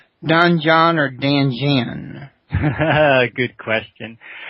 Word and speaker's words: Danjeon: But although, you know, American speakers, we say, some people hear dungeon when they hear it, but we're not going to breathe in our dungeon, but it's a Danjeon.